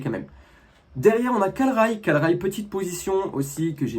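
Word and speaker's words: Kalray: Et ne me dites pas que c'est Calray, s'il vous plaît, c'est Calrail.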